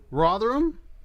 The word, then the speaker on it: Rotherham: Rotherham, how do I say it properly?